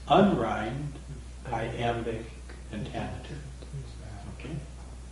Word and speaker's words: iamb: Yeah, it's two syllables with the accent on the second, right?